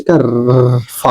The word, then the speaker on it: cough: आर ओ यू का रा हो जाएगा, जीएच का फा हो जाएगा।